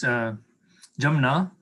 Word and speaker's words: Jumna: It's pronounced two ways, Jamna, if you're speaking Hindi in that way, yes, a little more formally. So it's the Ja is the vernacularization of the Sanskrit Ya.